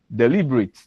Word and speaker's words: deliberate: Deliberate deliberate also has the stress on the second uh syllable.